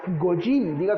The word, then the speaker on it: goy: Es por haber creído en él que nosotros, los gentiles, en en hebreo hay una expresión que se lee y se pronuncia goy conmigo, goyin.